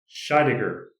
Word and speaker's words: Scheidegger: And today we are joined by a good friend of mine who we've worked together before, Shaidiger. I had I had to ask him how to pronounce his last name, so I said it correctly.